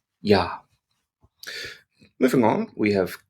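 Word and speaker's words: ja: we have yach yacht yacht is the German version of J and this is always soft so in English J makes a j sound there this is not the case in German we don't have that J sound instead we have y y like our letter Y and an example of a word would be the word for yes in German which is yah yah spelled j a yah y yah moving on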